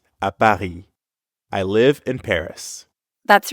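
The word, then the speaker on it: à Paris: Paris you'd simply add a Paris at the end foreign notice how the S at the end of Paris is silent again bahi Baki jabit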